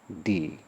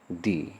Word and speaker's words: the: ई क्या है, तो ई है वॉवेल, इसीलिए इस THE का जो उच्चारण होगा वह क्या होगा, वह होगा दी। क्या हो जाएगा, दी, ठीक है। इसका भी उच्चारण क्या कर देंगे हम, दी।